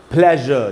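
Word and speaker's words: pleasure: उसके बाद है दोस्तों प्लेजर। देखिए इसमें भी अ का साउंड आ रहा है। एस यू आर ई के पहले अ का साउंड आ रहा है जो कि एक वॉइस्ट वोवेल साउंड है। तो एस को ज पढ़ रहे हैं।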